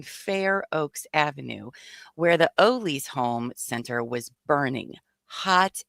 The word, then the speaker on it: Ole's: And I call it Ollie's. Well, it's Ole's. I know it's Apparently. Ollie, but I spell it's just me.